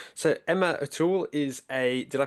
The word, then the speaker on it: O'Toole: So, Emma Atul is a Did I pronounce that correctly?